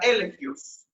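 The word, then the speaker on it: ἔλεγχος: La palabra convicción también desciende de una raíz griega que se pronuncia elegios.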